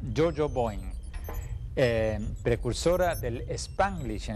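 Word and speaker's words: Yo-Yo Boing!: libro Jo Boeing Boeing se pronuncia joo Bo Jojo Boeing eh precursora del spanglish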